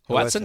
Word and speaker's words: hoatzin: There's still one bird that's really elusive, this bird that you referred to earlier called the hoatzin. Did I have the right pronunciation? Is that hoatzin?